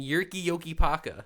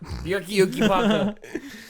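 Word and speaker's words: Jyrki Jokipakka: Zarli Zalapski, Uh and Yerki Yoki Paka. Yerky Yoki Paka. Is that what the Y? the second one just sounds like a Superman Okay, alien. okay. So Yerki Yoki Paka is spelled JYRKIJOKIPAKKA.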